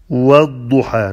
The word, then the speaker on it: والضحى: The lamb is not pronounced. والضحى، not والضحى.